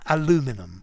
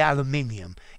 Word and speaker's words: aluminium: mannequin no mistakes and i don't like the word aluminum i prefer to say aluminium it's much better to my ears well in portuguese definitely